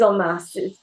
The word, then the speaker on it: en masse: Like when people en masse on when en masse, it is en masse, yeah. Spelled with an en, I think, isn't it? Yeah, En masse.